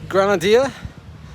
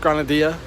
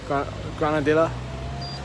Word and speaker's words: Granadilla: we are I think granader that's where we've come from am I saying that right Grana you don't pronounce the Double L granadilla granadilla with up from there